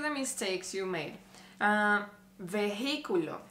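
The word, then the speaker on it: vehículo: mistakes you made uh veiculo vehiculo what's the mistake there well you in Spanish you don't pronounce the letter h under any circumstance you you don't pronounce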